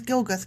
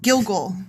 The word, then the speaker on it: Gilgal: And I want to call this place Gilgath. Gilgath! There. Done. Yeah, Gilgath. there it is. I did it. Yeah. When the Israelites were camped at Gilgal. Oh, I said it wrong. Gilgal.